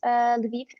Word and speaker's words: Lviv: We are located in two cities, Lviv and Ternopil, and so we have offices in two cities.